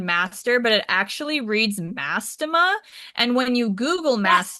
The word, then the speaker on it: Mastema: And not mass, I cannot pronounce that word. Mass, what's it called? Mastema? Mastema.